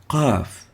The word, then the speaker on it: قاف: The last is the letter قاف, قاف, قاف.